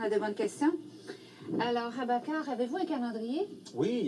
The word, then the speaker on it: Abakar: C'est comme ça qu'on prononce votre nom? Oui, c'est bien Abakar, A-B-A-K-A-R.